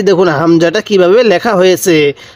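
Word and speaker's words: همزة: হামজাটা কিভাবে লেখা হয়েছে অনেকে এটাকে আইন পড়ে থাকি না আমরা যারা নতুন কোরআনুল হাকিম শিখতেছি বা আরবি হরফ গুলো শিখতেছি আমরা প্রাথমিকভাবে এটাকে আইন বলে থাকি না এটাকে আইন বলবো না এটাকে হামজা বলবো তাহলে হামজা আমার সাথে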